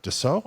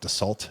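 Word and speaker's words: Dassault: they have Gulfstream and doo I think is how it's pronounced um I was calling it dot until I was corrected Doo yeah and uh so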